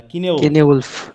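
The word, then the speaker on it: Cynewulf: হ্যাঁ, তাহলে আমরা পেয়েছি এটা হচ্ছে কি, BEDE, উচ্চারণ কি হবে? বিড। আর এটা CYNE, কাইনি হবে না কিনেউলফ?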